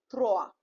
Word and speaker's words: trois: OI, I explained you, OI is oa. So the pronunciation here it will be boa, right? Like other example we have MOI, moa, TOI, toa, TROIS, throa, right?